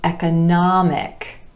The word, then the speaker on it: economic: So for example, economy, economy, emphasis on the second syllable and the ah vowel sound, changes when we add the IC ending and becomes economic, economic. Our stress shifts to that ah vowel sound right before the IC ending, economic.